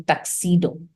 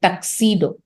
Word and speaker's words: tuxedo: पहला स्टाइल जिसको बोलते हैं टक्सीडो, ये जो TUXEDO आपको सुना दिखाई दे रहा है, इसको इसका प्रोनाउंसिएशन है टक्सीडो।